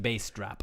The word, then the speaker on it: Bastrop: pronounced bass drop.